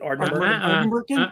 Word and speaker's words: Ardnamurchan: Can we emphasize the Ardnamurchan. con at the end, like Shatner? Con.